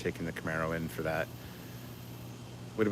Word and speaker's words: Camaro: robbed while i work now i am not mispronouncing camaro unless you want to say camero like bolonna torres but that's when you put an e in that second slot instead of two a's that's when it's a